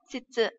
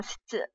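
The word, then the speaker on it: 失: Né, shitsu, đúng không? Vậy thì cái từ này thì chắc chắn là nó sẽ đọc đọc là shitsu, đúng không?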